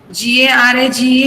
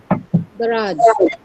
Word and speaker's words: garage: G-A-R-A-G-E is pronounced? Garage. Garage. That is je sound.